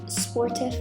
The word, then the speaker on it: sportif: I looked up what sportif means. I am 100% saying that wrong. It is French for athletic, so I'm saying it wrong. It's more like sportif.